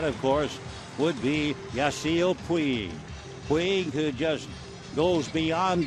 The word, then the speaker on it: Puig: This fella claims that over there you pronounce it Pudge. However, we've done considerable checking, and even in Catalan, which is a province in northern Spain, north of Barcelona, it's still Puig.